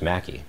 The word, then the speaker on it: Makiej: my name is M-A-K-I-E-J, and people pronounce it all different ways. Makiej, Makiej, Makiej. I've heard them all different variations, but basically it's just Mackie. It's a silent J. It's Polish.